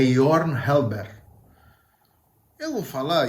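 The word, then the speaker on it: Jørgen Halberg: muda a maturbar York eu fui ver como é que a pronúncia certa do nome dele em dinamarquês é your Helber eu vou falar e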